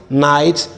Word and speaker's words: knight: letter k is that the letter k is not to be pronounced or realized when it comes before letter n and this is evident